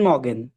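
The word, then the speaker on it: Morgen: আচ্ছা, মর্গেন আর এর উচ্চারণে ঠিকঠাক হবে মানে আচ্ছা, এমনি যদি গুটেন আমি মর্গেন বলছি, বলি মানে একটু উচ্চারণে। আচ্ছা। হ্যাঁ আমি এটা বলি। কিছু কিছু ক্ষেত্রে জার্মান, কিছু কিছু ক্ষেত্রে না, প্রায় 90% ক্ষেত্রে আর এর উচ্চারণটা হয় না।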